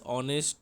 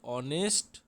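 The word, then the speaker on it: honest: ও দিয়ে উচ্চারণ হচ্ছে এইচ তো নেই এইচ সাইলেন্স আছে তাহলে হি ইজ অনেস্ট ম্যান এর ও দিয়ে শুরু ভাওয়েল দিয়ে শুরু মনে হচ্ছে বলে এখানে হবে অ্যান হি ইজ এ অনেস্ট boy sorry এখানে একের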